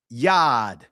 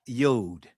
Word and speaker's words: yod: Yad, not yod.